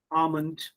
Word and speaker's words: almond: you know you see l sound is silent in talk almond half we don't say talk or almond or half so again